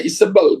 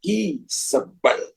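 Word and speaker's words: Izebel: Dia kemudian mengancam Elia jadi kalau kita baca isbel jangan baca lagi isbel Tapi bacanya ada tekanan berbeda isel jadi berbeda saudara jadi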